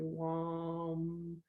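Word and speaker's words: vam: And then the next one is going to be wam. It's really like V, but it's pronounced W, wam.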